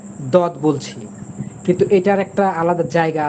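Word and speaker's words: ضاد: ঠিক আছে, অর্থাৎ এটাকে জদ বলবেন আপনি, জ বলবেন, এটা হবে না।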